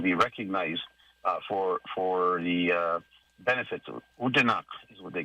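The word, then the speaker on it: Odanak: I'm trying to make sure I pronounce the name right. Oh boy, I'll get to it right away. It's Udanak, and then they call themselves Udanaki.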